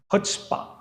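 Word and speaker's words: chutzpah: do you understand students C becomes silent it will be pronounced as HPA it will be pronounced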